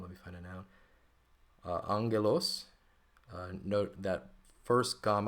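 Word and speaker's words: ἄγγελος: nouns like um let me find a noun Angelos uh note that first GMA I'm pronouncing like an N we talked about that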